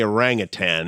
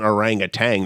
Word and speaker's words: orangutan: But you can say orangutan and people know it's not orangutang. There's no orange drink associated with the animal. But I would say most people say orangutang.